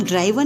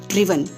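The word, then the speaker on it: driven: इसको हम ड्राइवन नहीं पढ़ते हैं, इसकी प्रोनाउंसिएशन क्या होती है, ड्रिवन।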